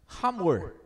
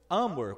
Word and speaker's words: Hamor: Hamor, ou Amor, como alguns pronunciam.